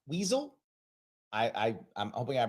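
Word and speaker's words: Wiesel: universe this is I think it's pronounced weasel I I I'm hoping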